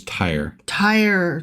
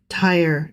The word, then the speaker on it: Tyre: Just for the record, it is Tyre. Tiresome. Yeah. Tired of me pronouncing it wrong. Swing tire. Wife Tyre. is doing a mental trick on the air. Yes. Yeah. I'm like, Tyre. It's Tyre, you Dumbo.